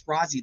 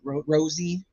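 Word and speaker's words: Rozzi: It's Rozzy to me, but I know that's not how you say it. Rosie is the one that's supposed to be submitting the written motion.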